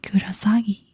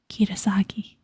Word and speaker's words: Kisaragi: I searched for a bit and found out you could write oni and pronounce it kurasagi. Kirasagi, my bad.